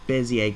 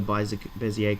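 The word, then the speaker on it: Bézier: Sorry, not Bezier curves, Bezier curves. I pronounce it Bezier for some reason.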